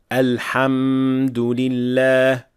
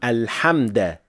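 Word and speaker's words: الحمد لله: For the first word, do not extend mim in Alhamd. Alhamdulillah. But this is of course a mistake, and this is just a normal meme. Saying Alhamda, Alhamdulillah is also a major mistake. So make sure that this is a dhamma.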